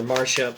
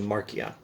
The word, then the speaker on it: Marcia: was much closer to Marcia. The C is always more like a K. The Latin C is like an English K. Also, the Elfish C is like an English K. Okay, who is Marcia?